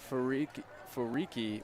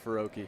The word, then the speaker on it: Faroki: Couldn't quite, did I say his name last name wrong? Faroki? Okay, Faroki, sorry.